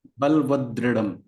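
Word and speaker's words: बलवद्दृढम्: बलवदृढ़म। बलवदृढ़। ये बलवद और दृढ़म दो वर्ड से बना हुआ है। बलवत वत वत बलवत, हाँ। मतलब बलवत।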